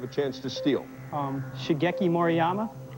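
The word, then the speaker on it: Shigeki Maruyama: Um, Shageki Moryama. Shaggeeki Maryama is the correct pronunciation.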